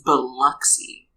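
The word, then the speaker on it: Biloxi: am having issues now is spelled b i l o XI you would expect that to be bxy it's but it's bxy yeah but it's also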